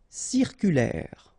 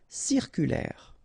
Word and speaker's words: circulaire: not pronounced stimulant stimulant circulaire final pronounce OK circulaire circulaire rasé de près final s not pronounc ok here accent grave est prêt.